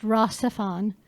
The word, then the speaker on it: RahXephon: It's pronounced RahXephon.